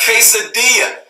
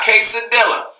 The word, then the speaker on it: quesadilla: ] three all right quesadilla not case Adela all right for my Spanish speaking individual my non-spanish speaking I educated uh people on his Spanish Spanish 2 l's when the two elbows are together and his a Spanish word it's like a while so it's quesadilla not